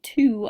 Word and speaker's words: two: I'm trying to spell two I will now understand that there is a silent W when but when I'm